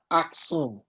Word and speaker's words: Aksum: Some pronounce it Aksum, spelled capital A-K-S-U-M, okay?